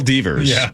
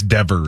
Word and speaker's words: Devers: Raphael Divers. Is that how you say it? Right. It's Devers.